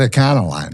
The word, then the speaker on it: Econoline: Is that the hillbilly pronunciation? It is, isn't it? Yeah. Ecnoline vans. It's not Econoline, right? It's Ecno.